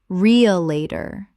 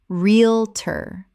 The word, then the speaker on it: realtor: Word 279, realtor, common mispronunciation, realtor. Correct pronunciation, realtor. 2 syllables in natural speech. The middle syllables collapse entirely.